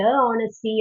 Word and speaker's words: honesty: We don't say the honesty or an honesty or honesty. That's okay. Honesty is silent.